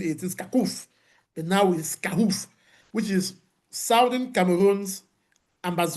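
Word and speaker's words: SCAUF: We pronounce it scaroff scoff you know. You know it we try to pronounce it different from Skakuf. Remember Skaku in the days of 2017 18 scakoff but now we scoff which is Southern Cameroon's Ambaz Amazonia United Front.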